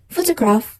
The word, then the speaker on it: photograph: for an example like in the word photograph photograph with three syllables for the first syllable is create primary stress so in the second syllable is unstress or have zero stress this is sound because it carries a s then last craft is carate secondary stress so that's all about